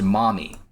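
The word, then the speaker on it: Maumee: towards the Mami River spelled m m e but pronounced mommy dividing Michigan and Ohio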